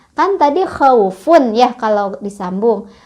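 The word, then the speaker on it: خوف: Kan tadi khaufun ya kalau disambung. Kalau berhenti jadi khauf. Jadi panjang. Selain dilunakkan dipanjangkan juga. Khauf gitu. Jadi bacaan yang salah misal khauf. Berhenti tapi pendek, salah.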